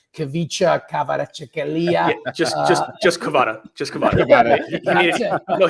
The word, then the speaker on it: Kvaratskhelia: say his name, Kavicha Kvaratskhelia. Just Kvara. Just Kvara. He made it easy for all of us. He told us the proper pronunciation and then says, I go by Kvara.